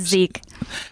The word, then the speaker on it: Zich: don't know I'm uncomfortable saying it wrong it's Zeke and I know you told me that before